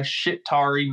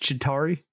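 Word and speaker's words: Chitauri: to clean up the shitari mess no no it's uh it's pronounced chitari the shitari mess sorry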